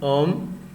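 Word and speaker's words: Ω: Donc ce symbole s'appelle oméga. On va le prononcer ohm. Donc quelques multiples de l'ohm. Le kilo-ohm s'écrit K oméga et se prononce, se lit kilo-ohm. 1 kilo-ohm égale 1000 ohms.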